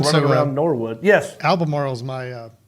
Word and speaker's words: Albemarle: Albemarle.